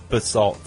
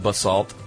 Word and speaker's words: basalt: A pronunciation of I believe we said basalt. I said basalt. You said basalt. And she says it's actually pronounced basalt.